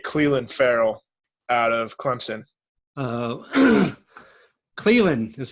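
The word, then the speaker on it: Clelin: Cleveland is how you say his name. Cleveland Farrell, yep. I thought it was Celian.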